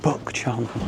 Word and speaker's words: Bukchon: How do you pronounce this place again? Bukchon. Bukchon. I think it's Bukchon. Does it not start with a B? Oh, Bukchon.